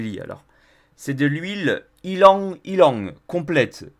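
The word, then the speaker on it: ylang-ylang: alors c'est de l'huile ylang ylang complète ylang ça s'écrit y l amg deux fois dont qui languit langues y lan j'ai deux fois c'est une huile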